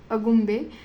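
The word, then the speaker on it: Agumbe: एक hill station है अगुम्बे, again आपने अकॉर्डिंग प्रोनाउंस करना, अगुम्बे।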